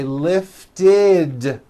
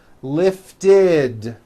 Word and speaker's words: lifted: is the third rule if a word ends in a t or a D sound we add the ending ID which is a vowel I followed by a d which is voiced ID so for example the